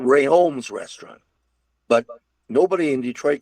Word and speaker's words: Rheaume: They started having more and more restaurants, and they changed it to it was called Rheaume's restaurant, but nobody in Detroit could say Rheaume, so they said Rheaume's, and that's where the Rheaume came in.